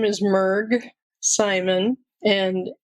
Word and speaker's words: Mrg: you my name is mg Simon and it's just three letters m RG and it's pronounced mg so you aren't mishearing anything and kirsty's not mispronouncing anything it really is mg I'm a professional organizer